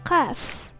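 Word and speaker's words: ق: The letter Qaf. Repeat with me, Qa. This letter is the emphatic counterpart to the English Ka.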